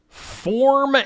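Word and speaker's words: Phorm: Anheuser-Busch has a new energy drink called Form Energy. Form is spelled with a P-H. P-H-O-R-M.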